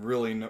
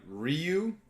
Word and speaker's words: Ryu: Mario so I combined Ryu I'm sorry I said that wrong his name technically is one syllable it's real yeah so from Street